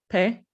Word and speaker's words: Pae: I do agree with what Pae said because, or how do I pronounce it? Is it Pae? Yeah.